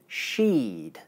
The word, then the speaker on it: she'd: As you can hear, sheed and sheet have exactly the same vowel sound, except that in sheed, the vowel is long because it's followed by the voiced consonant sound, d, while in sheet, the vowel is short because it's followed by the unvoiced consonant sound, t.